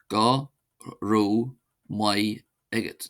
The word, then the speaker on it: Go raibh maith agat: Then to say thank you to one person, one says go not go g short remember go ro my egg egot.